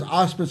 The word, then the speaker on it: Auspice: And Auspice. you pronounced it correctly, I know, too.